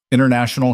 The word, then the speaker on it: International: International has 5 syllables, she said, testing the word. Say it as 4 chunks, Ethan said. Internation all. The 5th one sneaks in.